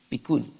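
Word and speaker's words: פקוד: Tus preceptos, porque es la palabra hebrea, así se pronuncia, pikud.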